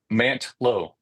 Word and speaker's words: Mantlo: Mantlo.